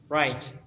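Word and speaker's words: write: right در اینجا حرفی W تلفظ نمی شود. right نوشتن.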